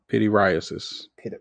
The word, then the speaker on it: pityriasis: I can't pronounce the word, but it's something psoriasis or something like that. Pityriasis.